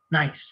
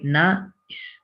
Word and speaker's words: nice: if we nice look it looks like has two syllables but it's only one nice you don't say na is no nice one syllable so if it's one